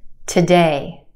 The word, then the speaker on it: today: Okay, try this one. Today, today. Again, we've got two syllables in this word. Our second syllable has the stressed or emphasized vowel sound, A, A. We stretch that sound and put it in the spotlight. The first syllable is where we have our schwa sound, today, today, ta, ta, today.